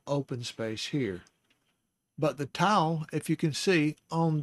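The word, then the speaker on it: tav: Now we come to our final letter of this study, and that is the letter Tau. Now the Tau is spelled Tau, wall, Tau, Tau, and it's spelled in English T-A-W.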